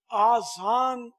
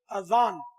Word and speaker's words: اذان: آزان تلفظ نہیں ہے، آزان تو اذن کی جمع ہے، دو ہے نا، دو کان، اور ہے اذان جیسے ہمارے یہاں آئمہ کرام بولتے ہیں تو الف پر مد نہیں ہے، آئمہ کرام نہیں ہے،